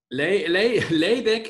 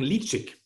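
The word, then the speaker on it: Ledaig: Laydeck ist tatsächlich ausgesprochen Litschig.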